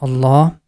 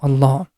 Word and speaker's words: Allah: When the previous letter has Fatha or Dhamma, in both cases we pronounce letter Lam with heavy sound, and always we have to stretch this La sound for 2 count in the name of Allah.